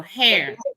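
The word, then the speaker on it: Herr: Her is pronounced like how you guys say hair. Okay, so hair. Down south we say her.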